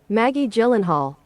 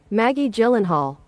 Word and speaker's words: Maggie Gyllenhaal: So, this is how you pronounce her name. Maggie Gyllenhaal One more time. Maggie Gyllenhaal So, she is she saying it wrong on purpose?